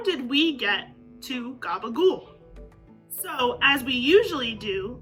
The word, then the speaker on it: gabagool: in or in capicola or in those southern vernaculars becomes a g in gabagul and the p becomes a b that final vowel almost disappears entirely or is heavily reduced and over time the pronunciation of the entire word becomes even more americanized until finally we get to gabagool so there you have